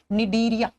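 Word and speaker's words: Cnidaria: लिखा जाता है सी से, लेकिन प्रोनाउंस करते हैं तो एन से करते हैं, निडीरिया।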